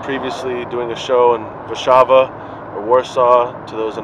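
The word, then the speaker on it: Warszawa: here in Poland previously doing the show and Rishabha a Warsaw to those in America who don't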